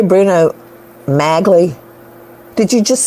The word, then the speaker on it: Bruno Magli: that he owns just like OJ and the Bruno Magnus shoes come on that's huge to me did you say Bruno magli did you just say that I don't know